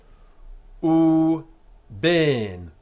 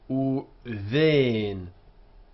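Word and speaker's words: וּבֵין: In modern Hebrew, it would be uven, and you can see it here indicated with the H after the B.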